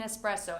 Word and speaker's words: espresso: There is no X in espresso, and many native English